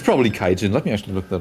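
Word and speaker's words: 海人: Most of the time, if one half of the kanji is onyomi, the other one is as well. Like if the first, if you pronounce the first kanji kai, then it has to be kaijin, right? And not kai hito or kai nin or something like that.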